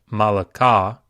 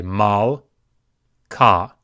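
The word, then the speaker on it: מַלְכָּה: So we don't say malaka, we say mal, ka, mal, ka. It's a silent Sheva. So silent Shevas are not pronounced.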